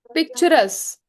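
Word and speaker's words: picturesque: पिक्चरस। ठीक है? पिक्चरस spelling Q यू ई silent रहेगा।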